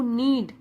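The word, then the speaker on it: knead: उसको बोलते हैं नीड, के जो होता है वो साइलेंट होता है, तो नीड मतलब गूंथना, जो तैयार है गूंथने के लिए, द डो आटे को गूंथने के लिए तैयार है।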